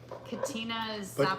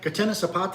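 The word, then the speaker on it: Catena Zapata: Um, Katina Patina Sapata. What? And now what is that? Katenna, excuse me, Katenna. Okay. Katenna Sapata is one of the biggest wineries in in in Mendoza.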